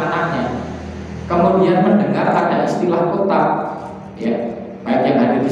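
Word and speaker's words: كُتَّاب: Al-kutab dengan dhammah kaf dan tasydid ta. Kutab gitu ya. Bukan kata, bukan kutab, tapi kutab, bacanya gitu. Maka pengejaan dengan bahasa Latinnya T-nya harus 2 karena ada tasydid. Ya, kutab gitu ya, T-nya 2.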